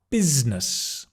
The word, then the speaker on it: business: Number six, business. Business or business. It's a Z and a N together. Not busyness, although we are busy when we're in business. Business.